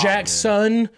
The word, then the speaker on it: Jaxon: a s in it it's Jackson not I it sounds like Jackson when I say it